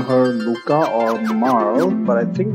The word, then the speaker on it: Lucca: Fun fact, based on the spelling, I actually used to pronounce her name as Lucca. Because Luca would be L-U-C-A, wouldn't it? Not double C. It was only later that I learned that it's supposed to be pronounced as Luca.